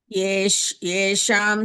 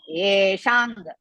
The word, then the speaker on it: येषां: Yesham chatvam Yesham no. bahumataha. Yesham no. Yeshang.